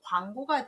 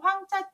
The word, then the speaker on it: 廣: 여러분이 이걸 보실 때 누루 황자 때문에 황 발음을 많이 하시는데 조심하셔야 됩니다. 광 발음이에요.